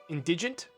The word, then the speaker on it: indigent: am i going crazy how's that pronounced soft d indigent i thought it'd be like indignant you know like that's